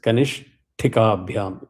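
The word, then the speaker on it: कनिष्ठिकाभ्याम्: So wherever there is a ta, you have to make sure that you pronounce it as ta. It is Kanish. Ish is soft, push powder. Kanishti. It is ta hard. So follow the rule. The ish half syllable goes with ni. Kanish. It allows you to free up to say ti.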